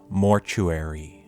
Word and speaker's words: mortuary: There's a T in there and you're not supposed to pronounce that.